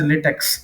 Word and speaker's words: LaTeX: or BibTeX entry, BibTeX LaTeX entry, BibTeX format we use in LaTeX, that we generally pronounce as latex. Okay, but it's actually LaTeX.